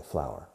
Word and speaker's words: flour: Se escribe flour, pero se pronuncia igual que flor. Una flor. Pero siempre en singular, por supuesto, porque es incontable, flour.